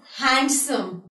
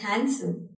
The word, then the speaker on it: handsome: You won't say that guy is handsome. You'll be saying that guy is handsome. Fine. So, you won't be pronouncing this letter D in the word handsome.